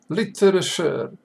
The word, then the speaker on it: literature: have little little seller literature accent is on the first syllable literal literature literature literature